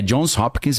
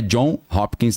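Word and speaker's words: Johns Hopkins: É Jones Hopkins mesmo, tá? Para quem acha que eu tô pronunciando errado, não é John Hopkins, não é Jones, tem um S Hopkins.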